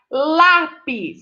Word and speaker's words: lápis: ela é proparoxítona ok lápis é a sílaba lá é mais forte o pis é a